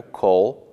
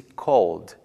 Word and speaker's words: called: dou uma simplificada Ok regra um para os verbos que no infinitivo terminam em b g l m n r v w y e z a pronúncia do Ed no passado tem som de D ignorando o som da vogal e por exemplo o verbo Call ligar no passado pronuncia-se Called e não Call incluindo o som da